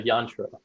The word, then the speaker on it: yantra: That's an example of a yantra. So it rhymes with mantra, and they're kind of related.